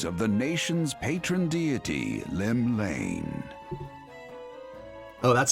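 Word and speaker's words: Llymlaen: drawn The Gaze of the nation's Patron deity Lim Lane oh that's how you pronounce it whoops not bad what Rome shaking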